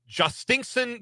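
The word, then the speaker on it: Jhostynxon: And uh I'll round out this look at uh players who will participate in this game with Red Sox prospect Justinen Garcia. That is spelled J H O S T Y NX O N.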